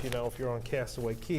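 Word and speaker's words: Castaway Cay: Our next item is a Castaway Key 5K. So, you know, if you pronounced a Castaway K5K, then it would rhyme.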